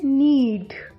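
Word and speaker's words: knead: नीड। के इसमें silent है, नीड।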